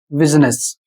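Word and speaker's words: business: उदाहरण के माध्यम से इस शब्द का उच्चारण होगा बिजी और इस शब्द का उच्चारण होगा बिजनेस। अब यहां पर आप समझ सकते हैं कि यू का उच्चारण यहां पर इ हो रहा है और इसका कारण यह अपवाद के रूप में है।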